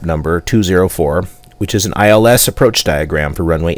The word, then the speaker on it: ILS: from the East note the ILS approach is never spoken by the letter such as India Lima Sierra it is pronounced ILS I will give that